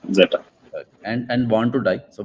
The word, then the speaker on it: Z3ta: How should I pronounce this? Zeta, That's right? correct. Zeta.